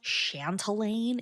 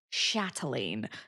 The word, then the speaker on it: Chatelaine: most definitely not pronounced chantelane it is pronounced chatelaine there is no extra n in there so uh please excuse